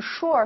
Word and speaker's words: sûr: 子，好，依然发音不变，还读 sur，但是意思发生变化了，它的意思是。I'm sure，非常确定